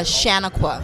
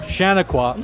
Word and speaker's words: Shanequa: that's incorrect so please correct me yeah it's pronounced uh Shaniqua Shaniqua okay um so you're a forest